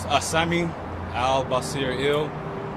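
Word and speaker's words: Assami AlBasir El: My name is Asami Al-Basir Il. That is A-S-S-A-M-I, capital A-L-B-A-S-I-R, capital E-L.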